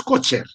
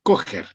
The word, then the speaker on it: Kocher: Igual que Kocher, no es Kocher, es Kocher.